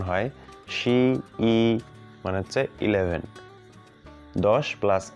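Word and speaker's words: 十一: আমরা যেমন বাংলা ভাষায় শিখছি যে 10 10 1 11, তেমনই হচ্ছে চাইনিজেও সেইভাবে উচ্চারণ হয় শি ই মানে হচ্ছে 11, 10 প্লাস 1।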